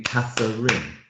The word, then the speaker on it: Catherine: I think that would be Catherine. 3 syllables. Well, you see, arguably it's what you call a medial vowel, so it gets swallowed up.